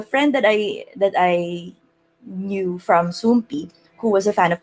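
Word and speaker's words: Soompi: So you spell it as SOOMP exclamation point. So it looks like an I.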